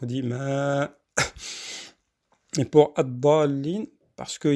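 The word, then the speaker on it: الضالين: Et là, vous avez vu, dans le mot ad-dallin, on a allongé beaucoup plus que par rapport à Maliki Yawmiddin.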